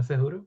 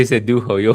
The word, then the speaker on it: Cejudo: No Cejudo? Okay, you said it right. Because you normally say Sedujo. You always say Sedujo.